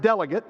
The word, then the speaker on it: delegate: But as a noun, we pronounce it delegate, one who is sent for a purpose.